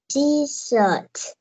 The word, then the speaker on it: T-shirt: Cái chữ shirt con có thấy cái đuôi T ở cuối cùng không? Đuôi T thì con phải thêm T. Đọc lại nào. T-shirt. T-shirt. Sai rồi. T-shirt. T-shirt. Con có thấy đây là chữ S không? Chữ S nè. Chữ S hờ này con cũng đọc là S luôn. À, chữ S đó con phải đọc là shirt.